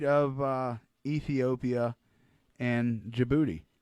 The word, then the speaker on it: Djibouti: Oh, it's on the southern tip of Saudi Arabia, just to the right of Ethiopia and Djibouti, which, fun fact, that's spelled with a D first.